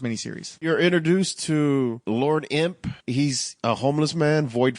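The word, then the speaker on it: Emp: I mean, he's called Imp, but it's spelled E-M-P.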